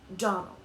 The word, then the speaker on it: Donnell: morning connected with the Donnell children. "Clarice Elmira told me that you pronounced our name Donnell. Now, Miss Shirley, the correct pronunciation of our name is Donnell. Accent on the last syllable.